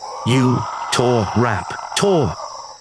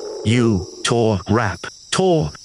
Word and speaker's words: Utahraptor: To pronounce Utahraptor, repeat after me. U-tah-rap-tah. Fantastic. Try it one more time. U-tah-rap-tah.